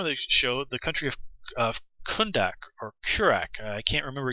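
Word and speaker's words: Kahndaq: show the country of kundak or kurak i can't remember exactly uh kondak kondak that's right kondak is how you say it just glance at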